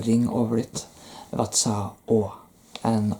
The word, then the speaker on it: Å: So it's an A with a ring over it, and it's pronounced Å.